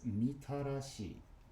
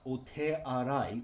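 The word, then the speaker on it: 御手洗: A font of puring water outside the temple is mitarashi. Mitarashi. Mitarashi. Mitarashi is literally the honorable hand washing. This can also be pronounced ote arai, which is literally just washing your hands, but mitarashi is, with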